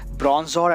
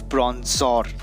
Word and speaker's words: Bronzor: telling the name wrong it's bronzer and not bronze song so it's the evolved version that's bronze song and this is the previous one that's prawns or okay uh so now